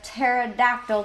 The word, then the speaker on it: pterodactyl: why can't you hear a pterodactyl go to the bathroom because the P is silent you don't have to